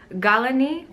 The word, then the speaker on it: Gallany: want to talk about is called galani Cosmetics I think that's how you pronounce it it's a it sounds very French but the products are